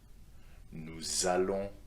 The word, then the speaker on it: allons: Je vais, tu vas, il va, elle va, on va, nous allons, don't forget the liaison over here, let's do it again. Nous allons, same for vous, vous allez, ils vont, elles vont.